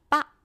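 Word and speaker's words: Pak: 이 빡 할 때 이 까 마지막에 까를 살짝 묵음으로 해서 빡 이런 식으로 하시면 됩니다.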